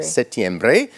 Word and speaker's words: septiembre: What is the pronunciation of the month September in Spanish? September. Repeat. September. Septiembre is correct.